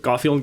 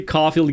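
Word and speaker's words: Caufield: Hopefully, Coughfield gets uh hot. Hopefully Cfield gets hot. There you go. I said it wrong first.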